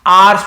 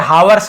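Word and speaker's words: hours: तो इसे भी आवर्स पढ़ते हैं, हावर्स नहीं पढ़ेंगे, एच साइलेंट होता है, केवल आवर्स पढ़ते हैं, ठीक है। हावर हावर ऐसे नहीं पढ़ना है, गलत हो जाएगा।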